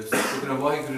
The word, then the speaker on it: Waheguru: And the V, the Vaheguru in Punjabi has four syllables. Because Punjabi, the vowels are attached to the, the vowels are attached to the consonants. So there's four letters, four consonants. Va, He, Gu, Ru.